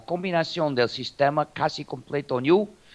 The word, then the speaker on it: GNU: El último componente del sistema GNU, o se puede pronunciar GNU en español. No hay confusión en español. En inglés no se debe llamar GNU porque parece decir nuevo, pero en español sí se puede llamar GNU.